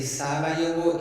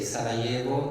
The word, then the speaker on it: Sarajevo: If I say Sarajevo, is the Serbian pronunciation. If I say Sarajevo, is the Croatian and Bosnian pronunciation.